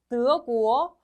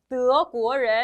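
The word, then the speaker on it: 德国: 한다고 해요 어디일까 여기 드어 구어 독일 독일이 사람이 중고라 그래서 뭐예요 드어 구어 슉슉슉 올라가는 느낌 살려주세요 한번 더 좋아 넘어갈게요 요거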